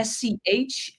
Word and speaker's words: Schouten: Schouten.